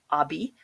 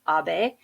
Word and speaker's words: Abe: Some people in the US, I hear, call him Abi, but it's not. It's Abe.